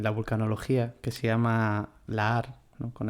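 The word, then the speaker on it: lahar: la que tengo yo que por eso yo la H las pronuncio como j y luego vosotros Bueno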